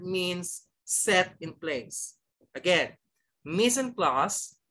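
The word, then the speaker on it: mise en place: plaster french third means set in place again missing class not missing place no you pronounce missing class very good missing class is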